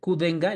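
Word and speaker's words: Qdenga: es el X el kenga no así debe pronunciar kenga El Tac 003 también está recomendado por la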